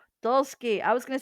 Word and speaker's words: Dulski: Dulski. Dulski. I was going to say Dulski. I knew it. I knew I was going to mess it up. Anyway, Dulski, and you are from Haunted Vermont.